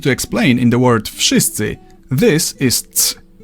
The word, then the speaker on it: Wszyscy: the hell they want, in Polish, you simply pronounce each sound one after another and you get the word. V Sh E Ts Ts E Wszyscy.